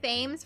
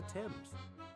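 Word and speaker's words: Thames: TS is no exception it sounds like the pronouncing the a as an e though when Celeste said that the answer lies on the old father's Embrace why did nobody correct me sooner I've been saying fames for the last seven episodes the father she was talking about was old father Temps this is the first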